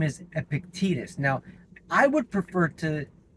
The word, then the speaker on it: Epictetus: Now, the second Stoic that the Marble program is based on, his name is Epictetus. Now, I would prefer to pronounce his name Epictetus because that just flows off the tongue so much easier.